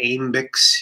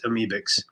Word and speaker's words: Amebix: You're not, some people say Amebix, you know, but it's Amebix.